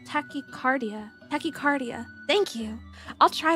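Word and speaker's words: tachycardia: Um by the way it's pronounced tachicardia.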